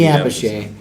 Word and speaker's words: Appice: Like it's Carmine Apiece, and then it's Vinny Appice.